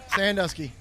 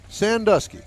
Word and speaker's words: Sandusky: Sanduski. Sandusky. Yes, sir. Like Ohio.